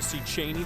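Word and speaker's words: Széchenyi: here the thermal bath i believe it's pronounced the sea chaney baths so we're gonna go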